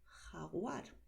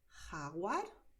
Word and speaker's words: jaguar: ¿Ves que he pronunciado fuerte ahora? Porque en general en España nos gusta este sonido fuerte, ¿vale? Pero también se puede pronunciar jaguar, mucho más suave. Entonces, aquí lo importante es que sepas que la letra J tiene ese sonido de garganta.